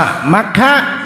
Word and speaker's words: มัคคะ: มัคคะ เนี่ย มังคะ มฆะ ถ้า แปล เป็น บาลี เ อ่าน ว่า มัคคะ มังคะ ถ้า แปล เป็น